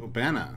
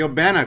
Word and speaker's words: Obena: a new ship called ubana you know ben i've been saying it wrong the obana class the archimedes from the